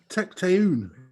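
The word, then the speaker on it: Tecteun: shake it for john tecton is that difficult for everybody it is three syllables i had to write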